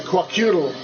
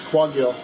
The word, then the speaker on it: Kwakiutl: The white people call it Kwakiutl, and the actual term for that is Kwagil.